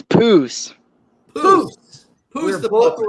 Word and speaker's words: Poose: Is it Poose? Posse? It's Poose.